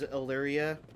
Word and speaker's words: Illyria: I am aware, by the way, that it is Illyria, but I am also from a state that's very particular about pronouncing things in a very particular manner, and typically we leave, like, A's at the end of names kind of silent. So, blame my homeland, but I'm resistant to changing that.